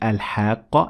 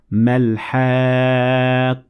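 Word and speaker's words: الحاقة: the difference so in the first time i said al-haqqah and i continued reading i pronounced the ta marbouta like any other tech but when i stopped at it i turned the tat marbuuta into a head so i said mel hah same thing when i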